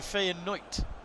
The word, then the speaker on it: Feyenoord: course but as you say it's what the dutch language would say and you've got to respect it like they're absolutely right so interesting that i did not know that i didn't know the d could be a t so faye and knight well at the moment